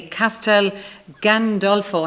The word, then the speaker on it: Castel Gandolfo: be here to talk about your new play Castel Gandolfo have I pronounced it correctly right yes yes there'll be